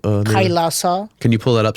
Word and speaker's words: Kailasa: How do you pronounce the name? Kailasa.